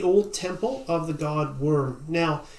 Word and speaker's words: Wyrm: temple of the god worm now this is spelled Wyrm and this is an old word that means dragon w-why are there is